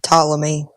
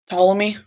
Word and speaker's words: Ptolemy: who did that uh don't know how to pronounce this again follow me Ptolemy Ptolemy sorry p t o l e m y